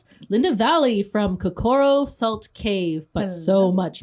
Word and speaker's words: Kokoro: So it's Kokoro. Kokoro. Oh, I say it Kokoro, but I'm French, so I mispronounce words all the time. Same here. I put the accent on the wrong syllable in English.